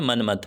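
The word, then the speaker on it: Monmouth: Number 3 पे हमारे पास आ जाता है जॉफ्री ऑफ मनमथ, इसको आपने मनमथ बोलना है, जॉफ्री ऑफ मनमथ।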